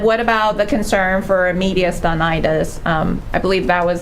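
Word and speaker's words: mediastinitis: And then what about the concern for media stonitis? Um I believe that was the correct pronunciation.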